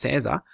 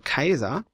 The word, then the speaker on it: Caesar: Jahre der Konsens gewesen dass im Lateinischen das ae als ausgesprochen wird und derchein hat man gesagt so der heißt Caesar das stimmt aber nicht der hieß damals schon Kaiser und da also der